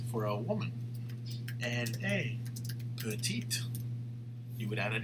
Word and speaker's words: petite: Elle est petite. Ils sont petits. Elles sont petites. Right? And you see how we pronounce the T for the feminine, right?